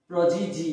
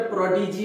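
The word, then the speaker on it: prodigy: দেখো এখানে এক্সাম্পল লিখেছি সোলজার, প্রজিজি, কেউ কিন্তু এটা প্রডিজি বলবে না, প্রডিজি নয়, প্রজিজি, ওকে।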